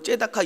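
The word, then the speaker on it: צדקה: 짜디크, 째다카 이런 식으로 발음하는데 이 공의, 정의, 하나님은 정의로운 자를 기뻐하십니다.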